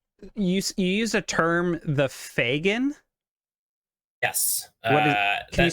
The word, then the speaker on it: Fagin: wink wink um you use a term the fagin can you spell that for me and what is that f-a-g-i-n